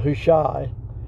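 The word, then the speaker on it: Hushai: of chief spy was i think you pronounce that who shy it's h-u-s-h-a-i however you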